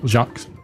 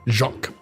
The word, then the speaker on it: Jacques: Jacques Jacques.